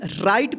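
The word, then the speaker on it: right: आर आई आई के just बाद क्या है? जी एच और यहां पे टी है। तो इस आर का र उच्चारण होगा। ठीक? और इस आई का देखिए। इस आई के जस्ट बाद क्या है? जी एच है। तो इस आई का आई उच्चारण होगा। ठीक? और टी से ट यानी आई। आ की मात्रा र में लग जाएगा तो क्या होगा? रा ई ट। क्या होगा? राइट।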